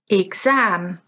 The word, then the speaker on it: exam: Exam, exam. Dinner, dinner. Police, police. Okay, so let's listen again to stress on the first syllable. We have market, letter, dinner. Stress on the second syllable, tonight, exam, police.